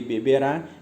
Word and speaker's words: beberá: Ele cantará, ele beberá, ele dormirá. Lembrando que essas são formas verbais o quê? Oxítonas, são formas que são acentuadas e contêm a tonicidade na sua última sílaba, né?